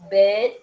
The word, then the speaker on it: bed: Yeah, remember in bed with a sound, it is a diphthong there. I explained to you, diphthongs are the combination of two vowel sounds together. When you have to pronounce a little bit longer, that means you have to sustain the sound or you have to prolong the sound, like bad, bed. Bed. Bed. D, it is not T.